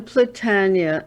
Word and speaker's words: Platania: Can you pronounce his last name? John Platania? John Platania.